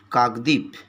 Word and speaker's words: কাকদ্বীপ: কাকদ্বীপ বানাটা তোমরা দেখো কাকদ্বীপ কিন্তু ডর নিচে যে বটা আছে এটা কিন্তু আমরা উচ্চারণ করছি না সুতরাং কাকদ্বীপ টাকে আমরা উচ্চারণ করছি এইভাবে কাকদ্বীপ তাহলে কে প্রথমে তোমাদের